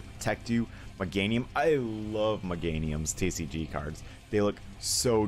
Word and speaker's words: Meganium: you meganium i love meganium's tcg cards they look so dope as a kid i used to call it mega neum i didn't know how to pronounce things i still don't know